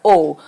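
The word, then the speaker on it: aux: will be using the preposition o au x that is pronounced as au pronunciation here is similar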